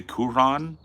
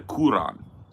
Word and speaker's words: Quran: So I've very like the Quran. Yeah, it's not Quran. That's not how they say it.